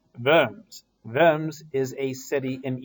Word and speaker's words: Worms: about it in class lunchtime a diet of worms well not really it's not pronounced diet it's D it and D it is a meeting a parliament a conference as it were and it's not worms it's firms firms is a city in eastern Germany where